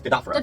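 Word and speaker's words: Dadophoros: Am I pronouncing that correctly? What do you say? Dodophoros? Yes, Dodophoros. Dodophoros, thank you.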